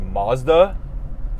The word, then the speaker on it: Mazda: of manufacturers do that it's pronounced matsuda uh it's actually pronounced mazda whatever we'll say it